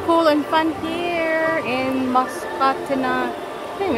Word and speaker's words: Musconetcong: It's Musconetcong. It's not Musconetcong. It's kind of hard to pronounce, but it's Musconetcong River, and it's so beautiful.